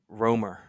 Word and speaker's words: Rankine: that first word Ro it's uh pronounced RoR okay I don't know